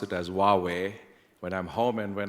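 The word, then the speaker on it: Huawei: Sanji WWE or as in Dutch to say who areai but that's completely wrong right well I guess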